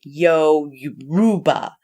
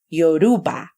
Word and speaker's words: Yoruba: me read this in Yoruba yo rule Yoruba you know because sometimes people don't even pronounce Europe or correctly they'll say something like yo you Ruba Yoruba and hopefully I'm saying